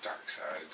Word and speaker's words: Darkseid: and he's just like, I had to tell all my friends at school that you actually pronounce it Darkseid.